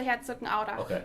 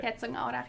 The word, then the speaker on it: Herzogenaurach: It's very close to Herzogenaurach. Okay. That's how you say it in German. Okay. Herzogenaurach, yeah.